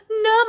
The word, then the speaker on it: numb: okay next one again remember making sure that you're not saying the b it's silent um it's so cold that my legs my hands my fingers feel numb i can't feel them